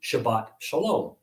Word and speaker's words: Shabbat shalom: a peaceful shabbat right it's pronounced according to standard sephardic pronunciation shabbat shalom gutshabas on the other